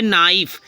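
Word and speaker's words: knife: means क्या गांठ भी होती है तो के साइलेंट हो गया ठीक है जैसे नाइफ के एन आई एफ ई के एन आई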